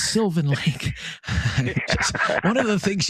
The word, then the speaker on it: Sylvan Lake: And when I first started taking your calls, I was calling it Sylvan Lake, like French, you know, Sylvan Lake. And my wife gave me heck. She said, "You're saying it wrong, Rob. It's not Sylvan Lake. It's Sylvan Lake."